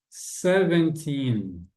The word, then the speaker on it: seventeen: seventeen 18 19 20 Olha só quando o número aqui do dos 13 aos 19 estiver isolado na frase ele vai ter essa pronúncia de agora se por exemplo eu falar com vocês assim I have vou colocar uma frase aqui não precisa preocupar com isso aqui não é só um exemplo BS eu tenho 1 livros B vocês viram que acia então na a sílaba tônica a sílaba forte da do sev mudou de lugar né I